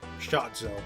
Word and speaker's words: Shotzo: Shotzo, that's how you pronounce that.